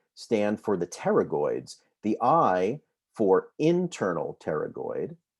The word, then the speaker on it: pterygoid: medial and the lateral pterygoid the p is silent and pterygoid significance of